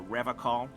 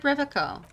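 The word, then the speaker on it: Revachol: Unlike other people, you said Revol. I like to pronounce it the hard way. The old way. the Vesperine way.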